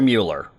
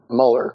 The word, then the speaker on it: Mueller: His name is Robert Muller. Muller. Exactly. It is spelled, Who the hell are you talking about? I don't get anything Mueller. right. It is spelled Mueller, but it's pronounced Muller.